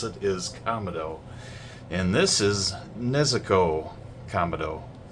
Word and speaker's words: Kamado: watched another couple episodes, I said it was Kamado. I made a Kamado reference in the Tanjiro video. Well, guess what? It's Kamado. The correct way to pronounce it is Kamado.